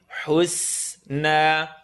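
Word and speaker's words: الحسنى: Bil husna. Hu, say the cool word, say cool. Hus. So it's going to go oo, and then the seen, tip of the tongue, bottom teeth. Seen, husna.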